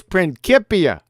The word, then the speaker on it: Principia: It says it's a little bit off topic, QE, but how do I pronounce Principia? Oh yeah, it's Principia.